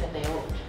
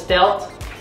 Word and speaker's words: stealth: Steel ง่าย ๆ Steel จริง ๆ ที่ ถูก ต้อง คือ stealth stealth steth ถูก ต้อง มัน จะ เป็น T เป็น ท ทหาร แล้ว ก็ คำ สุด ท้าย ลง ท้าย ออก เสียง เป็น นิด นึง steth ste มัน จะ มี อ่า เหมือน มี ลิ้น ไป แตะ ข้าง บน นิด นึง s g